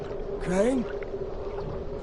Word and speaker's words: Crane: Crane? Crane rhymes with train, and brain, and sane, and grain, and rain, and plane, and the other kind of plane, and...